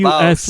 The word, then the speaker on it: Baus: The bus in Vacania is spelled Baus, and it's just a guy. Like It's just a giant that like carries the people places. It's the bus. This is the boss. But BAUS boss.